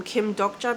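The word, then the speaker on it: Kim Dokja: I'll be calling him Kim Doja because that's the Korean pronunciation, and that's how I've always known his name to be, the Korean version, so I'll just call him Kim Doja.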